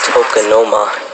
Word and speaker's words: tokonoma: Tokonoma. Always spelled how it sounds. T-O-K-O-N-O-M-A.